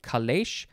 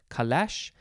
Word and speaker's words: calèche: for the word, well, I'm assuming it's pronounced similarly, calèche, calèche. It is spelled C-A-L-E-C-H-E, and there's an accent over the first E, calèche.